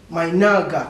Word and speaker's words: 买那个: My naga.